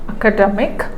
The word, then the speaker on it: academic: right uh see this academic so this is this is one syllable this is one syllable academic okay that means this has four syllabic four syllables f syllabic word so the primary stress is on the second syllable from the end and the secondary stress is on the first syllable when we tell the